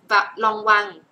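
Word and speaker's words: Lanvin: ใกล้ เคียง แล้ว แหละ แต่ เสียง เวอร เสียง นี้ แพว จะ เน้น เสมอ ว่า เสียง เฟะ มัน เป็น เสียง for fun นะ คะ มัน เป็น เสียง ตัว นี้ นะ คะ ออก เสียง long วัง ลอง วัง นะ คะ ตัว นี้ เสียง ออง ออก เสียง ออง ตัว นี้ ออง วัง อัน นี้ ออก เสียง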